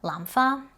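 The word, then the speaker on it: 蘭花: say dai lampha however if you mispronounce the first tone and say da lampha that actually means to hit an orchid so if you go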